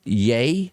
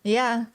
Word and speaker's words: Ye: you tell me uh yay why is that how you pronounce it yeah this is going to be his new name that he's applying for y e yay didn't rm is a different way to pronounce it yay ye i don't know why